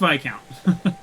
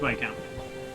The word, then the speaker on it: Viscount: oh VI count sorry it's pronounced VI count I'm fairly certain it's pronounced by account um we're weak sale